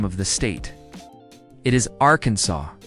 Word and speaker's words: Arkansas: In Arkansas, it is illegal to mispronounce the name of the state. It is Arkansas, not Aranessayas.